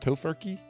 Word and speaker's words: Tofurky: Tofurky?